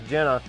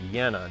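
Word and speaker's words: Jena: got his Carl's Ice Jenna on his I guess they actually pronounce it yenna don't they I think it's pronounced with a with a Y sound I'm pretty sure yeah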